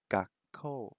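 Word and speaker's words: gakkō: Gakko. That extra vowel sound makes it into an o.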